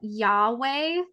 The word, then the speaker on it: Yahweh: when you look at Yahweh in its original form, it actually didn't have any vowels. And if you were to pronounce it, it's actually like a breath, like breathing in and out.